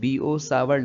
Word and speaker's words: Biot-Savart: Basically ये Biot सैवर्ट लिखने में तो हम यही है, लेकिन जब प्रोनाउंस करेंगे तो प्रोनाउंस करते वक्त इसको BO सावर्ट लॉ पढ़ेंगे, यानी इसको हम BO सावर्ट लॉ प्रोनाउंस करेंगे।